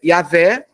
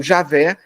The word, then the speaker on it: Yahvé: O Pentateuco, ora utilizava Adonai, que os rabinos dizem que a pronúncia seria Yahvé, ou Javé, daí javista, e ora utilizava Elohim, que é Deus no hebraico.